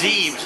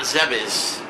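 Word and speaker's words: Zebes: And it's Zes, not Zebis.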